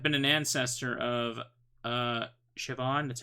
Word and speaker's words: Siobhan: owner there have been an ancestor of uh siobhan that's how you say it say it i